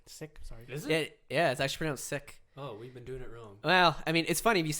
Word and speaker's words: Sikh: Sikh was a religion it's actually pronounced sick sick yes I scream sick